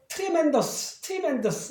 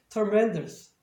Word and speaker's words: tremendous: 그러니까 이걸 tremendous 이렇게 발음하는데 절대 그렇게 안 들려요. 영어에서는. 여기 현상이 발생하니까 TR이가 아니라 TER처럼 TR로 발음. 그래서 전체적인 발음은 tremendous 이렇게 발음을 하셔야 돼요.